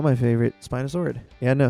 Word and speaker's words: spinosaurid: So, the reason why I bring it up, Spinosaurus aegyptiacus is not my favorite spinosaurid. Yeah, I know, spinosaurid or spinosaurid Spinosauridae Spinos- Spina- Spinosaurid. That's the proper way to say it.